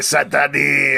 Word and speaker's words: Cent'Anni: We're going to be talking about the Penguin episode 4, Sent Ani. You got to pronounce it like Watto does in Phantom Menace. Do you? It's Ani. It's a reference to Watto. Hey, Sent Ani.